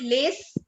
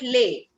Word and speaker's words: les: end of any word, if there is a consonant at the end of any word, we do not give it its sound. That is why we don't call it lace, we call it lay.